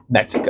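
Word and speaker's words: México: Say Mexico again. Mexico. Mexico. Okay. yes. And the X, yes, does make the H sound as well.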